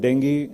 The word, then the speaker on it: Dengue: as vaccine for shock so how do we call it Dengue Dengue and Dengue Dengue is the real English pronunciation denge is more like an American English and Dengue is purely in Hindi you know so when